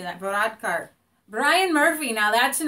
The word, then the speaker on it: Varadkar: Varadkar.